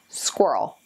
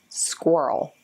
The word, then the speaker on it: squirrel: a difficult one for lots of students to pronounce so I'll just say it squirrel squirrel if you don't get it at first don't